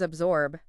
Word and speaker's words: absorb: And then there's absorb. Another tricky one because of that B sound following the S. We show them how to slightly voice the B to create that smooth transition between the sounds.